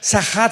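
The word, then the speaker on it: שחת: Esta palabra corromper es la palabra hebrea sachat. Sahat con s de Samuel y ch. Sahat. Sahat se pronuncia, que significa corrupción moral.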